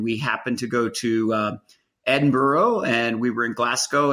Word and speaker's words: Edinburgh: your path first off i'm going to have to teach you how to say the word you know the the city edinburgh it's edinburgh come on tom edinburgh anyways um yeah you